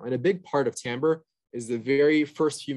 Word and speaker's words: timbre: timbre is very uh first of all it's pronounced timbre which is so weird there's an eye in